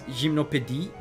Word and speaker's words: Gymnopédie: I think it's gymnopédie, how you say it. Gymnopédie, because it's French.